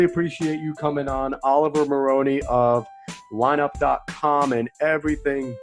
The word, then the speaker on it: Maroney: can find Oliver at oma Loney and be a on both Twitter and Instagram I said that right right Oh Maroney not Maloney I said your last